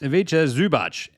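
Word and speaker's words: Ivica Zubac: Aviche Zubach. Pronounced Avicha Zubach.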